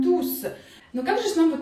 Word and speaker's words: tous: Учебник нам скажет, что если ту у нас является прилагательным, тогда S не произносим в конце, читаем ту. Если у нас ту является местоимением, тогда S в конце произносим, читаем туз.